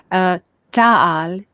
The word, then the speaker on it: Ta'al: And a third who look like us, Ta'al, T-A-A-L, humans with brown hair and normal features like us.